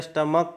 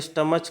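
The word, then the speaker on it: stomach: लोग का करते हैं, स्टमक करते हैं, और ना कि स्टमच करते हैं। स्टमच अगर करते तो यहाँ पर क्या हो जाता, यहाँ पर ES जोड़ना पड़ता, और यहाँ पर इसका उच्चारण क्या होता है, CH का स्टमक होता है।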